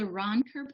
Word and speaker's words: Roncker: If you're interested in the law that supports that, it's called the Ronker Portability Test. I'll spell it Roncker, Ronker Portability.